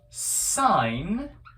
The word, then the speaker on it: sin: does sohcahtoa actually mean sohcahtoa means that the sign I'm abbreviating it here as sin si M but it's actually pronounced sign is the opposite over the hypotenuse